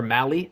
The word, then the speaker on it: Mahle: Apparently it rhymes with rally like Cal Rally.